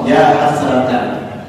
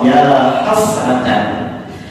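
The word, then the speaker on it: يا حسرةً: Hasratan itu nakirah ghairah maqsudah, sehingga dibaca nasab ya hasratan.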